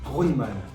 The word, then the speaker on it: Grundmann: Grundmann. Ah bah voilà. Grundmann, ça serait U, il y avait un umlaut sur le U, il n'y a pas de umlaut, donc c'est Grundmann, c'est un nom d'origine allemande, autrichienne pour être exact.